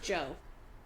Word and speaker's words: Djo: Djo. It's just DJ O. It's just Joe. Oh, just Joe.